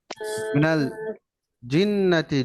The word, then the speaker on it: الجنة: الذي يوسوس في صدور الناس الذي يوسوس في صدور الناس من الجنة والناس من من الجنة الجنة والناس والناس মিনাল জিন্নাতি জিম শক্ত উচ্চারণ হয় বাংলাতে আমরা যেরকম বোরকার জ্বর উচ্চারণ